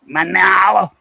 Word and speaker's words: Manila: Manala. Manala. That's how they say it.